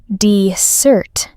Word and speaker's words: dessert: Dessert, the sweet food, has 2 S's. The stress is on the second part. Listen. Dessert.